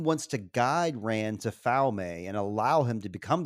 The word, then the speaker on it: Falme: Let me say real quick, Falme, that's wrong. It's Falm.